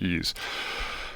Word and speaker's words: EES: engineering equation solver ease ees is pronounced ease um you can download